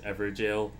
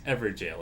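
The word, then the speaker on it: Evergaol: But, thank you for pronouncing as ever jail. I I hear so many weird pronunciations of that. I'm like, "Guys, ever jail. It's It's a It's ever jail.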